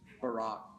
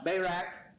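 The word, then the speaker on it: Barak: bayra by the way I I pronounce his name Bay not that other one that Barack yeah uh bayak uh so anyway the only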